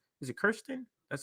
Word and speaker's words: Kyrsten: The Kyrsten Sinema segment is up next.